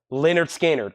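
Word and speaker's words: Lynyrd Skynyrd: some nonsense 50% off we have Leonard skinnard pronounced Leonard skinnard analog Productions two LP 45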